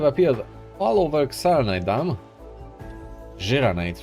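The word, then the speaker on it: Xiranite: Xeranite, rather. That's how you pronounce it apparently.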